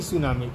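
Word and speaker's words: tsunami: इसको लिखा जाता है टी सुनामी, टी साइलेंट हो जाता है।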